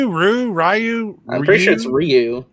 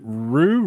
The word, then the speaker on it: Ryu: Ryu.